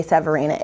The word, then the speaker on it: Severina: these other hard names you can say Severina it's exactly how it's spelled names matter labels matter